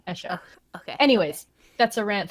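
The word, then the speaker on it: Escha: I refuse to pronounce it as Eska. No, Esha.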